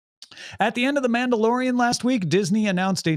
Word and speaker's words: Mandalorian: you're talking about uh men do korean i'm not familiar with this show uh it's pronounced man dalorian there's a name man